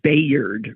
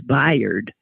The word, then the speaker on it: Bayard: he was something else fired Rustin I always pronounce it Bayard Rustin because that's how it's spelled but uh the film makes clear that that is not correct it's byed Rustin and what an extraordinarily courageous character he